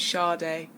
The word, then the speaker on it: Sade: so I'm sure they English English pronunciation is Sharda Sharda you said that you